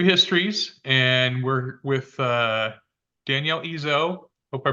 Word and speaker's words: Ezzo: in season 2 of New Histories, and we're with Danielle Ezzo. Hope I pronounced your last name correctly.